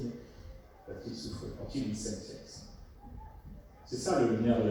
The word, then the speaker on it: sentience: Très important, ce qu'on appelle en anglais la sentience, sentience, S-E-N-T-I-E-N-C-E, sentience, ou sentience, qui est en train de se franciser, je prononce même à la française, sentience, et puis la sentience,